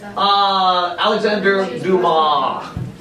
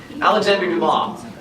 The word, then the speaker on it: Alexandre Dumas: like three hours of it's just important okay Alexander do mom okay it's pronounced okay okay now folks Alexandre Dumas he wrote a lot of things but famously